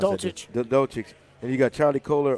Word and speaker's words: Dulcich: Yeah, Trey McBride, Greg, how do you pronounce Dulcich. that? Dulcich.